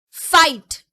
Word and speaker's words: fight: Fight. So which is the silent letter here? GH are the silent letters here.